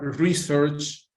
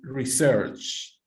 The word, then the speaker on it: research: If you use it as a noun, it has a different stress.